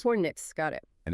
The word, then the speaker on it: Fornix: We pronounce it Fornix. Fornix, got it.